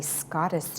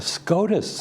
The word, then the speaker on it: SCOTUS: Now, you say you call yourself a Scottish nerd. What is that? No, a SCOTUS. A SCOTUS. Oh, I said it wrong. I'm not Scottish. A SCOTUS nerd. That's Supreme Court of the U.S.